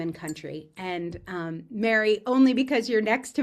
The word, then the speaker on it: Meri: It can be pronounced Meri, that's fine. Or if you want to be extra correct, Meri.